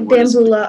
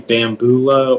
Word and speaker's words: bamboula: And the bambula, are there any alternate pronunciations? It can be bambula or bambula. Bambula, can you repeat both pronunciations, please?